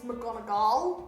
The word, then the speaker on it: McGonagall: You probably got that wrong. So. McGonagall. It's McGonagall, actually, because she's Scottish.